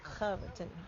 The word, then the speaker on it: Hobbiton: over at the uh Am I saying it right? Hobaten. Hobaten. Habatin. Oh, Hobbiten. Yeah. Hobbiton Park. Hobbiton. Oh, you say it good.